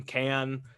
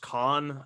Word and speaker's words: Can: Yeah, like I started listening to King Crimson, Can, or I've also heard them pronounced Con. I don't know if you're into krautrock, but I would trust the Germans would probably pronounce it Con.